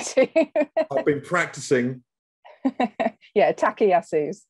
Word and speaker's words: Takayasu's: And Artie also has a very rare vasculitis called Takayasu. Did I pronounce that right? You've pronounced it better than most people tend to. I've been practicing. Yeah, Takayasu's. Takayasu's.